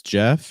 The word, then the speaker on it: Jeff: will be your host my name is Jeff it rhymes with breath which is one of